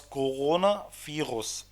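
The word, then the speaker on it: Coronavirus: الفترة دي، اسمه داس كورونا فيروس. داس كورونا فيروس هنا نطقتها غين لأنها بين حرفين متحركين، يعني كورونا بين حرف الأو والأو، والفيروس بين حرف الإي والأو، فنطقتها هنا غين. داس كورونا فيروس.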